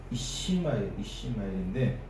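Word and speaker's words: יִשְׁמָעֵאל: 우리나라 말로는 이스마엘인데 더 정확히 이제 히브리어 말로 이제 제가 발음을 해보면 이시마엘인데 하나님께서 들으신다라는 뜻이 하나님께서 무엇을 들으셨습니까?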